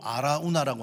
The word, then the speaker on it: 아라우나: 그러니까 여부스 발음으로 아라우나라고 하는데, 이게 역대상에 가면은 히브리식 발음으로 오르난이라고 번역합니다.